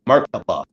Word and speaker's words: Merkaba: Merkaba. That's three syllables, three words in one. So it's and each one of those mer means something, ka means something, and ba means something.